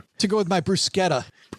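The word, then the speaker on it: bruschetta: Italian to go with my brusqueta. Bruscetta. I swear to God that's the right way to say that.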